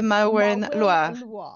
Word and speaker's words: Maureen Loire: Se dice Maureen Loire. Maureen Loire.